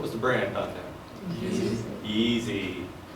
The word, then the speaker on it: Yeezy: Yeezy. It's like rhymes with skeezy.